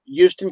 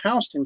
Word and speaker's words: Houston: Well, it's spelled like Houston. So, everybody sees it and they come up and go, "Yeah, we're going to Houston County." I said, "No, you're going to Houston County."